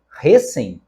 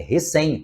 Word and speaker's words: recém: oxítona na letra B recé completamente Fora Da Lógica da língua é recém todos nós conhecemos essa palavra e sabemos que ela é oxítona recém depois Tulipa paroxítona